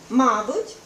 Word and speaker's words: мабуть: Мабуть, але і мабуть. Тобто, є такі слова, де можливий подвійний наголос.